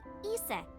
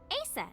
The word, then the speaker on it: Isis: Horus's mom is named Isis. Okay. But in ancient Egyptian, it's pronounced closer to iset or aset.